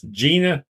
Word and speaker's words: Gina: It's Gina. Rhymes with Nina.